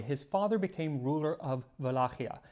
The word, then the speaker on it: Wallachia: Now, when Dracula was still a young boy, his father became ruler of Wallachia. Sometimes you'll hear it pronounced Wallachia.